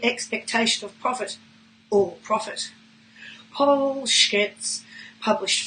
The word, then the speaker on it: Paul Skec: Paul Skec, pronounced Paul Skec, is a bipedal carbon-based life form who grew up in the unfashionable outer western fringes of Melbourne.